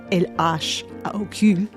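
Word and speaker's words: L.H.O.O.Q.: When you pronounce those letters in French, LHOOQ, it sounds like a phrase meaning, she has a hot ass.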